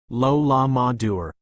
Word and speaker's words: Lola Mater: If we're going to crack this case, we need to start getting direct answers, and Lola Mater, pronounced Lola Madur, the divinant, might hold the key.